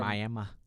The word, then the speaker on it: Miami: chief billy again from miami miami sorry that's how they say it down there yeah i know but it's spelled miami like florida i'll say what i